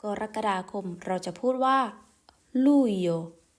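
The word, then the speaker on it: Luglio: นั่น ก็ คือ กรกฎาคม เรา จะ พูด ว่า ลูโย ลู เดือน นี้ ร้อน มาก ๆ เลย นะ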